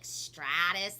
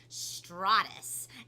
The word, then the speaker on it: stratus: think it was like stratus like with a long ah sound but it's actually pronounced straw like you're drinking up a straw stratus and stratus are the